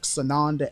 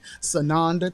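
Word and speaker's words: Tsanonda: find me on Facebook sonanda again it's spelled with the T the t is silent like tsunami sunanda t-s-a-n-o-n-d-a and then you can find me on Instagram at sananda t-s-a-n-o-n-d-a please I look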